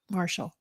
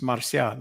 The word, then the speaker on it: Marcial: They all pronounce it Marshall. Marshall, right? But it's Marcial. It's a Spanish name.